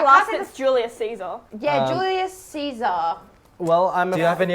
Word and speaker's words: Caesar: one of the Lawson's Julius Caesar yeah Julius Caesar well I'm you have any other ideas guys Julius unfortunately that's no just out in Latin and there's no sound in Latin its Gaius Julius Kaiser so you are both dum-dum this is not